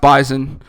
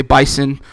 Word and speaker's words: Bison: the Bison in this one and yes it's pronounced bison I know if you if you look it up it's gonna say bison like a buffalo but any South Dakota State